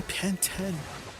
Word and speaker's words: Pantene: And you know how they pronounce Pantene, they say Panten. They say Panten. I watched a British commercial for this brand of shampoo. They say pant 10.